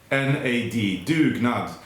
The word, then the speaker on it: dugnad: subscribe so the word of the week is dugnad d sorry d-u-g-n-a-d duke not and if you're wondering how it's spelled and if you didn't catch it you